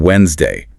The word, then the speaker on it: Wednesday: Third, listen for those pronunciation the silent D in Wednesday, the dropped R in February.